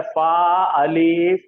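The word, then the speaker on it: فاعل: तुम्हारे और प्रोनाउंसिएशन गलत हो रहे, रुक जाओ। उसका जाहदा सांचा, रुको रुको रुको, उसका सांचा है फा अलीफ ऐन लाम, फाअला।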